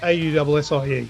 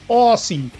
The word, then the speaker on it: Aussie: Please like our page, but just a heads up, Aussie is spelled Aussie, so Aussie, not Aussie as in Ozzy Osbourne.